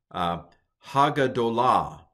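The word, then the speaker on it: הַגְּדוֹלָה: So Hagadolah is how you pronounce this.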